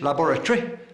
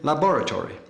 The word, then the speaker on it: laboratory: Where the English say cemetery, the Americans have cemetery. English laboratory, American laboratory.